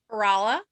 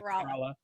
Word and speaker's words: Kerala: Debbie, help me with the pronunciation. It's in Kerala? Kerala. Kerala? Yeah, Kerala, India.